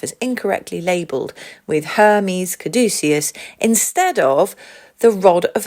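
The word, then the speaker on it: caduceus: messenger staff the kadus you should probably pronounce this caducus but I seem to pronounce it kadus and no one's going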